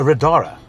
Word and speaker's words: Riddara: I'm sitting in a Riddara. Is that the correct way of pronouncing That's it? correct, yeah.